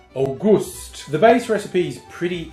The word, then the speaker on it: Auguste: It's spelled August with an E on the end, so I think that's not to be pronounced August. You've got to pronounce that Auguste.